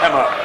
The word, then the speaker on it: Hema: The name is spelled H-E-M-A. The ground announcer, he called him Hema. I will say his name's Hema. But I'll go by him. It's Hema from now on.